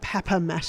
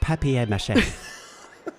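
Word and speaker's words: papier-mâché: You can see the paper mache paper mache. I think you do actually say paper mache. It's pronounced papier mache.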